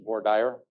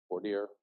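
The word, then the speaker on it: voir dire: The fancy term for that is border. Bordier. Ask five attorneys. They'll all pronounce it differently.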